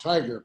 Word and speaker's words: Tigar: It's actually pronounced Tiger, but Tiger.